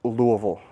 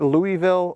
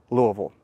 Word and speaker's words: Louisville: And by the way, if you're ever wondering, it's pronounced Louisville. It's not Louisville or anything else, but Louisville.